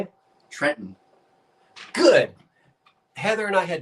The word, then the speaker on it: Trenton: Trenton.